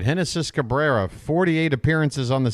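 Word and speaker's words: Génesis: moment I'm assuming the Lefty henis Cabrera spelled like genesis pronounced like henis that should be the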